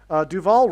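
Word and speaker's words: Duvall: Duval rhymes with Hall, okay?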